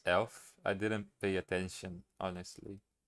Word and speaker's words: elf: 11 is pronounced elf.